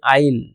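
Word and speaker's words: I'll: এর উচ্চারণটা হবে আইল, কিন্তু এর মধ্যে থাকবে হচ্ছে আই উইল। এখানে আইল মানে আই উইল।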